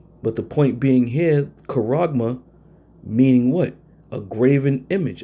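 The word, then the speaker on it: χάραγμα: Charagma. Charagma. We pronounce it karagma.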